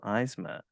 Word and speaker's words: Eisma: joined on this episode by Comics Creator eisma thank you so much for joining me and I hope I pronounced your name correctly I didn't think to